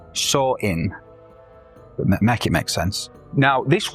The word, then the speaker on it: Samhain: Essentially pronounced saw in it makes sense.